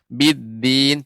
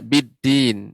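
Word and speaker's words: بالدين: Biddin, tidak biddin, akan tetapi biddin. Ulangi Pak Ustaz yang sama itu. Silakan. Fama yukadzibu. Fama yukadzibuka ba'du biddin. Nah, ini biddin, biddin. Dia lebih kalau ini lidah ujungnya, ini punggungnya. Biddin, ya, seperti itu.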